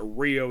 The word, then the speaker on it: Rio: And of course gave it to Leo, where that Rio is how you pronounce his name. Like I read on here it's Ryu, but the sub I watched for him is Leo.